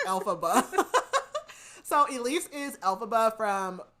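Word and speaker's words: Elphaba: I've read wiked I was about to say I'm like Alaba that's not it I'm like it's alphaba so Elise is alphaba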